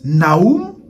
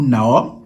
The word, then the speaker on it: Nahum: Capernaum, c'était, le prophète Nahum, ou Nahum, tout dépend des prononciations.